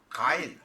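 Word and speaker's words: Gein: 안녕하십니까라 타로입니다 오늘은 에드 개인이라는 가인 혹은 개인이라고 발음하는 정신병을 극단적으로 앓으면서 사람을 죽여서 시체를 가지고 말려서 장식품을 만드는 유명한 정신병자의 사주를 가지고 왔습니다이 에드워드 데르 개인 혹은 가인이라고 발음합니다 그래서 개인이 되거나 가인이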